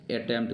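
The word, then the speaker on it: attempt: और यहाँ पे अटेम्प्ट कर सकते हैं, अटेम्प्ट गाइज, अटेम्प्ट। ये जो अटेम्प्ट है, ये अटेम्प्ट में हमारा ये क्या है, पी साइलेंट है, अटेम्प्ट।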